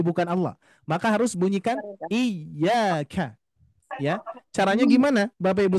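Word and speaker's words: إِيَّاكَ: jadi Bapak Ibu sekalian seringki terdengar pengucapan iyanya menjadi bukan Iya tapi iyaka na'budu wa iyaka nasta bisa jadi di antara kita mungkin ada yang mengucapkan seperti atau misalkan kita pernah mendengar ada yang yang membaca seperti itu kalau membaca seperti itu ternyata kalau kita teliti dan juga pengucapannya tanpa ada ynya dua gitu kan Ya Maka nanti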